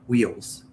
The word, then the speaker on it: wheel: Like I I made it very like two syllable even though it's a one syllable word.